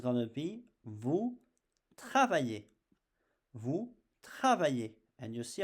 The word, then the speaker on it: travaillez: Vous travaillez. And you see, I don't pronounce the Z, I just pronounce the sound E.